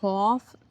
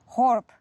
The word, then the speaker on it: Horb: Also ich würde trotzdem einfach Horf sagen. Aber du weißt, wie man es richtig ausspricht. Nee. Horb. Man sagt es mit einem B.